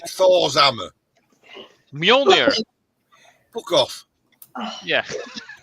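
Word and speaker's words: Mjölnir: he could do Mohinya. Ooh, what? All right, maybe I'm not pronounced it right. Thor's hammer. Mjolnir.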